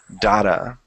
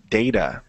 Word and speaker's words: data: in the last class somebody said dada and i'm used to data so i checked just to see because i told them no you should say data and data is pronounced in many different ways okay just like neither and neither so because i made